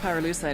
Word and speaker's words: pyrolusite: You know what pyrolusite is, right? Yeah, neither did I. Pyrolusite, key syllable pyro, by the way, is the